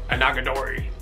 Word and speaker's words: Onagadori: Onagadori.